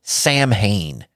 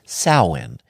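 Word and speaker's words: Samhain: Satanic holidays how about Sam Hayne or if you want to pronounce it properly it is sin if you spend enough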